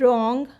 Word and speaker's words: wrong: is silent the word wrong or right are written with uh wr but w is silent so this is another